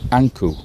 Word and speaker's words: Ankh: And we think it is Ipi or Appa, Anku. That is how Ankh is pronounced in ancient Egyptian.